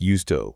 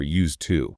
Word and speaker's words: used: The final D in used is often very soft. It sounds more like used to or used to.